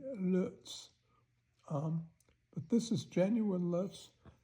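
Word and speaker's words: Loetz: This is a genuine Lutz piece of glass, and Lutz is spelled L-O-E-T-Z. That's Lutz. In German, it would be an O with two dots above it. And that is pronounced O-E, Lutz.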